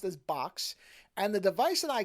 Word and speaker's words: Boox: So the company name is Boox, but apparently that's supposed to be pronounced as Boox.